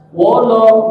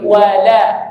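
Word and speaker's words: ولا: Wolo gitu, wolo bukan wolo tapi wala tipis ya.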